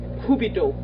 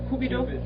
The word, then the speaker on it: Cupid: And one would be an unreachable influence of the love god Cupido. Is that how you pronounce it in English? Cupido? Cupid.